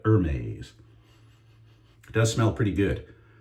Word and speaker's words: Hermès: And I've never smelled H24 by Hermes. Am I saying it right? Hermes, I would say, but Hermes.